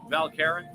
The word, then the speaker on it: Val Caron: stores where we're at here in valkerin i say it properly val karen yeah and uh all